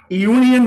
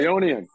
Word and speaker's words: Eonian: How do you say it? Eonian. Eonian. Eonian. Eonian. E-O-N-I-A-N Records. Yes. I thought it was like Eonian, like Motley Crue has the two dots on the top, so I pronounced it like that.